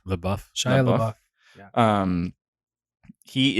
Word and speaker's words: LaBeouf: Shia LaBeouf. How do you pronounce his last name? I think it's LaBeouf. LaBeouf.